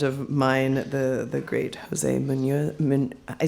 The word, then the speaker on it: Muñoz: and a friend of mine, the great Jose Muñoz. I said it right the first time. Muñoz.